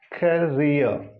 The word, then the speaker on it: career: Now these two words, career, this pure vowel, career. This final R is silent.